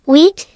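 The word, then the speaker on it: huit: SIX, pronounced like sees, September, pronounced like set, Hewitt, pronounced like wheat, milf, pronounced like mel, dix, pronounced like dies.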